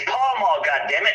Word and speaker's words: Pall Mall: It's fucking pale male, Magnum. No, it's not. It's Pall Mall.